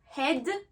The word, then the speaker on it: head: Un exemple, comme dans le mot head, la tête, là j'ai fait le son est, head.